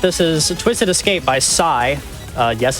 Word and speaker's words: Psy: But this is Twisted Escape by Psy. Yes, it's pronounced that way.